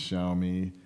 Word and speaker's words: Xiaomi: watching his reviews the xiaomi xiaomi it's pronounced xiaomi scooter just all different